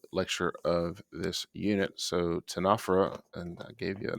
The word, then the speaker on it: Ctenophora: the final uh lecture of this unit so tanafera and i gave you a nice pronunciation there more for myself than for you